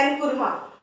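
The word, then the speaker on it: Nkrumah: और इंडिपेंडेंस के स्ट्रगल में ये जो पर्सन थे इनको प्रोनाउंस किया जाता है एनकुरमा, ठीक है।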